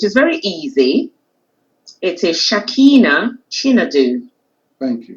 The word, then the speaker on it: Shakina Chinedu: It is Shakina Chinedu. Thank you. Shakina Chinedu. Chinedu. Yeah. So Shakina. I'll help you a bit. If you say Chi and then Nedu, Chinedu.